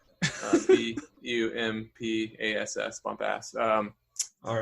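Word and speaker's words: Bumpass: what it's called yeah it's bumpy ass that's just how it's spelled b-u-m-p-a-s-s bump ass um all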